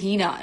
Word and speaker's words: Hina: My name is Hina, not Nika.